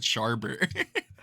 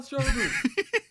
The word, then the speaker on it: Schwarber: And the whole game, Schwarber, and he would pronounce it wrong. He said Sharber. Hey, Kyle Schwarber. Give the kid a ball, Kyle Schwarber, make his day. it was Sharber and also Swarber.